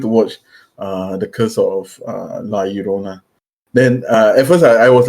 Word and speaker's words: La Llorona: How is it pronounced again? La Llorona. La Llorona.